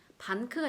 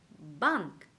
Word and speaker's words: банк: 우리가 만약에 비읍을 그냥 발음했다 했다면은 반크가 되겠죠. 반크. 이게 아니라 이 한글 비읍보다 이 위에 입술과 아래 입술이 떨어지는 힘이 조금 더 세다라고 생각하시면 됩니다. bank.